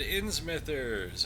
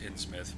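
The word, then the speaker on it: Innsmouth: dick and he said in Smithers or ins mousers I believe it's actually pronounced in Smith but whatever go read the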